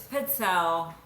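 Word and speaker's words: pizzelle: Is it pronounced pizzale or pel? It's pel.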